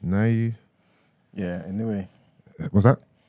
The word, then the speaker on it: Naoya: Naoya. Yeah, Inoue. What's that? Naoya.